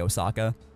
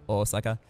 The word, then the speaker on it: Osaka: because usually they say Osaka, and the pitch accent's on the O, and not the sa, so Osaka.